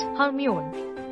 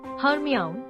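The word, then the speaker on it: Hermione: ली not doll eight हर्मिन incorrect हर्मिया correct एमानी Ramani tub this name popular by the Harry Potter series है four syllable we the stress on the second nine prescription incorrect prescription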